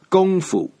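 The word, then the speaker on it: 功夫: pin yen so kung foo in chinese is pronounced gongfu it's one of these words with more than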